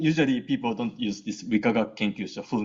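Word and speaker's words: 理化学研究所: So these 6 letters are pronounced as Rikagaku Kenkyusho, and the first 3 characters, Rikagaku means physics and chemistry, and the last 3 characters, Kenkyusho means research institute.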